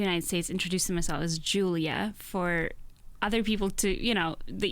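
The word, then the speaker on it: Iuliia: It is Luliia. Luliia. Yes. I did come to the United States introducing myself as Julia for other people to, the easier way to pronounce it, but it is Luliia.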